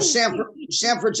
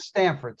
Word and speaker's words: Sanford: Well, Sanford's outside of Orlando. Yeah, It's in that, But Yeah. you said Stamford, like Connecticut, Yes. No. because that's where Stanford, Jackie not Robinson Stanford, lived. not Stanford, Sanford.